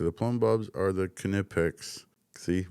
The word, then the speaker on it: Knipex: Conveniently located next to the plumb bobs are the Knipex. See, right there, Knipex. It says it. It's German. The Germans pronounce it with a hard K.